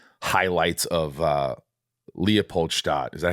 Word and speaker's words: Leopoldstadt: And even seeing like highlights of Leopoldstadt. Is that how you pronounce it?